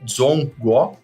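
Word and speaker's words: 中国: Então, eles se enxergam, como você mencionou, o próprio nome China em chinês, em mandarim, é Zhongguo, perdoem a pronúncia, mas Zhong é exatamente terra, nação, império, e o Guo é meio.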